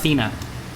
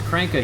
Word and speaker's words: Kranke: I always thought it was pronounced Cena. Kranke. He always pronounced it as Kranke, yeah.